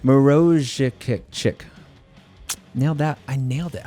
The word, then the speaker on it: Maruszczyk: Pronounced kind of a bit like Maruszczyk. Nailed that. I nailed it. I absolutely nailed that. Really got to roll the R's a bit.